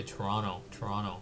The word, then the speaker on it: Toronto: I know Torontonians say Toronto, but I try to pronounce a T.